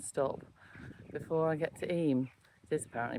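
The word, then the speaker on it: Eyam: So, I've just come out of Stony Middleton, which is the last stamp and and stop before I get to EM. It is apparently pronounced EM.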